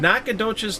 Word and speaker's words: Nacogdoches: Boy, Amber your and Steve- pronunciation is spot on today. It's pretty good. What was that? Nacogdoches, Texas.